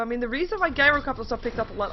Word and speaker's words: Gyrocopter: a viable item upon gyrocopter what am I pronouncing gyro copter wrong or something gyro copter it says gyro copter not gyro copter not gyrocopter gyrocopter it's a g there we go anyway